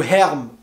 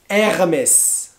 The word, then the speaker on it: Hermès: et on a aussi hermès hermès et par airbus non ou hermes non hermès hockey hermès et on a ensuite christian